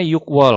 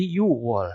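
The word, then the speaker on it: 유월: Tapi ketika bertemu dengan satuan bulan wol, maka yuk menjadi yuwol. Dibacanya yuwol tanpa memasukkan G-nya.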